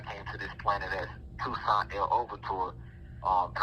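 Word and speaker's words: Toussaint Louverture: In my last incarnation, I came to this planet as Toussaint El Overture, and I'm just pronouncing it like that for those who are over here in America. That pronunciation is more of a French pronunciation, and when pronounced correctly,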